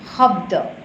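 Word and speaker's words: শব্দ: And Assamese, in Assamese also, they say Habda, not Shabda. Their pronunciation is little bit different, Habda.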